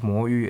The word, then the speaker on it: Moyu: Since I just used Moyu as an example, let me start with it. Its actual pronunciation is Mo Yu.